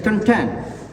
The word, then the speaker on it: contain: It's also verb, and it should be also stressed with the second syllable, like contain.